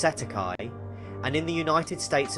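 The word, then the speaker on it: cestui que: This is commonly referred to as cest tuiquy trust pronounced setti and in the United States of America or Canada it's known as straw man.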